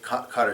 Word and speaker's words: Qatar: It's spelled Qatr, and it's pronounced Qatar.